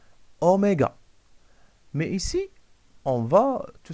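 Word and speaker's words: oméga: sûr en ce symbole cette lettre c'est en là sa prudence se prononcent omega mais ici on va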